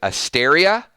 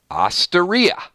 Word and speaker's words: Osteria: on where you from you either pronounce Asteria or Osteria it's a real thing